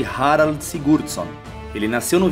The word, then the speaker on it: Harald: haroldo filho de segurado que no idioma norueguês pronuncia-se rara seguro só ele nasceu